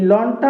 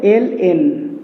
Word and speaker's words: ln: এই যে লন, এই লনটা হলো ই ভিত্তিক লগারিদম। এটা লন বলাটা ভুল, বলতে হবে ln, এটাকে উচ্চারণ করতে হয় ln, কিন্তু আমরা সবাই এটাকে লন বলি, আসলে আদৌ লন বলা ঠিক না।